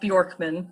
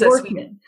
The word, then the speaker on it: Bjorkman: yes, my last name is pronounced Bjorkman. So it's Bjorkman.